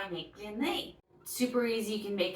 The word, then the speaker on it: blini: They're called blini, but I get that Google writes it blini. I can't even say it that way.